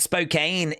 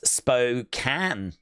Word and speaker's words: Spokane: Uh Suzanne said, "Spokane is pronounced that way, but in Washington it's Spokane."